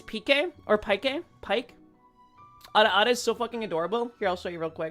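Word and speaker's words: Pieck: Dude, the peak the I think it's PK or Pike. Pike is so adorable. Here, I'll show you real quick. This is now a React stream. Um, Pike.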